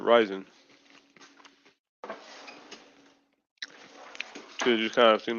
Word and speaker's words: Ryzen: And I think it's Risen, dude. I've heard both. Like I think the way I was pronouncing it for a while was Risen, or wait, Ryzen. Yeah, that's how you should pronounce it, Ryzen.